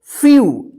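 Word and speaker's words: few: पर देखते हैं हम एफ ई डब्लू इसको क्या पढ़ेंगे फ्यू देखिए यहां पे ई का य उच्चारण हो रहा है य ठीक है इसको ध्यान रखिएगा कि जब किसी वर्ड में इ के बाद लास्ट में डब्लू रहता है तो इस ई और डब्लू का यू उच्चारण होगा ठीक है देखिए यहां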